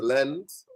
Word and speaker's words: Lens: Yeah, Lens. Lens is how they pronounce it. Yeah, Lens. The French way, English, I call it Lens.